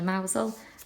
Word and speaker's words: Mousehole: This is a place called Mousehole. It's spelt Mousehole, but it's actually Mousehole.